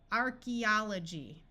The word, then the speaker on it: archaeology: that is completely confused archaeology AE says e in this word and here we have a whole suffix ology archaeology Archaeology is the study